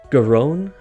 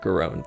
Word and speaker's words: Garonne: Again, I meant to look up pronunciations. Garonne, I believe.